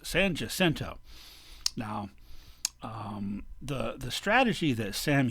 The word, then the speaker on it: San Jacinto: Battle of San Jacinto, which actually would have been pronounced by the Mexicans as San Jacinto, but the Anglos won, and they're in charge now, so it's San Jacinto.